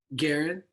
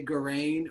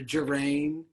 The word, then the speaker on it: Garrain: t karen yep yeah what do people usually call you garen but whenever they know how to say it they say grain or gerane people call me